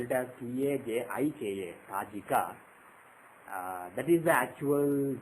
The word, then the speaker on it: Tajika: Raman, and some people spell it as T-A-J-I-K-A, Tajika.